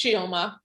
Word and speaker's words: Chioma: I'm like, it's Chioma. And that's even a whitened version of how to say my name, honestly.